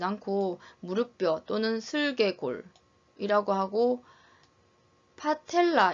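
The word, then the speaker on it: patella: 무릎뼈 또는 슬개골이라고 하고 파텔라 이렇게 읽어야 되는데 병원에서는 빠텔라 이렇게 읽기도 합니다. 경상도에서는 좀 더 센 발음을 더 유행하게 사용하고 있습니다.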